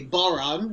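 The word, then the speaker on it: bodhrán: So they called it the Rising of the Moon, which is also the name of this song, which I'll play on the baran, rhymes with moron.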